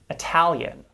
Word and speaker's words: Italian: it's the stressed syllable compare the word italy that is tapped and flapped versus italian which is not why is that it's because the second syllable in italian is stressed whereas the second syllable